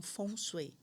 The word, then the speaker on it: feng shui: três vezes e lá eles não falam fengu, eles falam fonchui, né? E eu tenho até o livro que fala só sobre esse assunto fonê pronúncia. Fonsu é eles falam com uma pronúncia um pouco mais fechada.